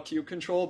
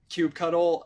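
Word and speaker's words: kubectl: of commands like this I guess there's also Cube Cube control which I call Cube control but I guess also people call Cube cuddle and uh Cube CTL so I I don't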